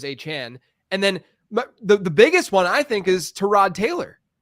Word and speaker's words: Achane: But it's also like we learned this with like Devon Achane, where in college his name everywhere was spelled Devon with no apostrophe. Yeah. And then it was like there were a ton of different pronunciations with his last name, and then we learned that it was Achane.